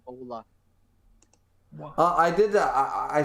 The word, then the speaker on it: hola: Hola is Buenas. actually the H is silent in Ola.